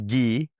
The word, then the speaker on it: Guy: Well, as you know, my name is is Gee. Yes. Right. Which when you read it can be pronounced guy, but it's the French version.